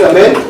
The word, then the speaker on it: Amit: Oh, my name is Amit. It's written A-M-I-T, pronounced A-M-E-E-T, Amit.